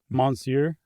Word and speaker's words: Monsieur: It How do you pronounce it? Monsieur. Really? Why is it m o n? Is that all silent? It's just the French doing their French thing.